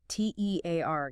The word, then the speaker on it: tear: T E A R gives us tear rhyming with here or fear.